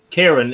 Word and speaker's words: Kieran: Kieran, it's an Irish name. You can say Kieran or Kieran. It's Irish? Yeah. You can say Kieran, but in Irish they can call me Kieran.